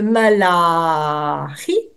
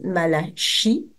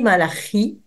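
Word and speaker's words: Malachie: le livre de malari parce que si vous dites Malachi il y a des personnes qui pourraient peut-être entendre autre chose que le nom propre de cet auteur propre c'est le cas de le dire donc s'il vous plaît si par hasard vous détectez une assonance un truc qui pourrait coincer n'oubliez pas que malaie se dit malarie c'est une gulturale en hébreu ça permet d'éviter toute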